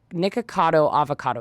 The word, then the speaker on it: Nikocado Avocado: And I think people feel a little stressed because, and we'll talk about him later, but Nikocado Avocado is how you say his name.